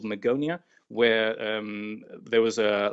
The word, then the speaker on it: Magonia: if we were to go back to the Magonia is that how it's pronounced that's right um Magonia was a fabled